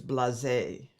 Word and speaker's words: blasé: John Frederick Bland says the blas, what we said is blasé. Oh, blasé? Is that really how you pronounce that?